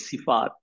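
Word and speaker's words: صفة: তো যখন গোলতা আসে তখন এটাকে যখন ওয়াকফ করা হয় তখন কি বলা হয় সিফা বলি আমরা হ এর উচ্চারণ করি সিফা আর এমনি যদি আমি কন্টিনিউ করে যাইতাম তখন হচ্ছে সিফাত বা সিফাতুন তো এভাবে করে জিনিস নামটা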